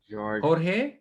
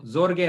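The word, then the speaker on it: Jorge: South আমেরিকাতে হোর্হে, এটা কিন্তু জোরগে না, যখন জে দিয়ে নাম হয় উচ্চারণটা, এটা হোর্হে বলে আর কি, এইট উচ্চারণ হয়।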